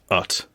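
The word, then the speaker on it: utt: And also ut, spelled U-T-T. Like but without a B.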